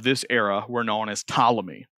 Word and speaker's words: Ptolemy: era were known as Ptolemy PT is how it's spelled Ptolemy um maybe maybe you